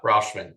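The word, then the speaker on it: Rutschman: and they still got adley Rutman is that how you pronounce it yeah rashman yeah great young probably the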